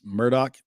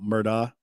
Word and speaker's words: Murdaugh: with an X and it's Murdoch not Murdock or Alec I'm definitely